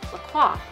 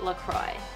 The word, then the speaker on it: LaCroix: favorite sparkling water I've been referring to as Lacroix because I thought it was French this soda is from Wisconsin and it's pronounced Lacroix it's not French it's not fancy end of